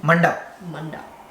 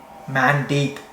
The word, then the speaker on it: mandap: Mandap. Mandip. It's called a mandip. No, it's mandap. How mandip? One mandip. One mandip. Two mandip. But is that not how you spell it? It's MANDAP, mandap.